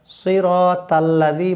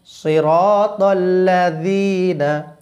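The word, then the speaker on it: صراط الذين: বলতে বললে হবে ললাজনা সিরাতাল্লাজি বললে কিন্তু ভুল হবেলা বললে ভুল হবে নরম করিটা জিবাটা বাইর করে উচ্চারণ করলে জাল সহজে আসে বলুন আমার সঙ্গে সিরাতল্লাজিনা সিরাতল্লাজিনা এরপরে যেই বিষয়টা সবচেয়ে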